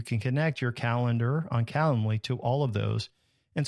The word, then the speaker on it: Calendly: Then you can set up a tool like Calendly. It's like calendar, but not calendar. It's Calendly.